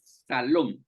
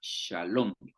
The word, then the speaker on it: Shalom: Y esa pronunciación de SH, estas dos letritas, vienen de este puntito que está aquí arriba, mire. Este puntito que está aquí arriba, donde estoy pasando el cursor, es el que le da la pronunciación esta de SH.